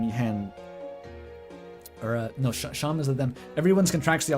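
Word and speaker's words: Seam: Name is Sham, pronounced Sham.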